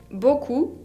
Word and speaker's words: beaucoup: Beaucoup es el adverbio que significa mucho. Beaucoup, con una P final qui ne se prononce pas.